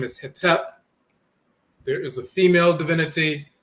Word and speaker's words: Hetep: deity, the male divinity whose name is Hetep. In the Coptic dialect, that's spelled Hotep. People often hear the term Hotep, but Hetep or Hotep, dialectal variants of the same term and so forth.